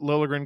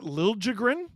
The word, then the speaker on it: Liljegren: James Stemler, did you guys hear about how the moment Liljegren got settled in San Jose, he started saying his name is supposed to be pronounced with a hard J?